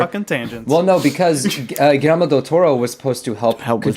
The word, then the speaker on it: Guillermo del Toro: How do you pronounce it? Guillermo El Toro. Elmo del Toro. Guillermo del Toro.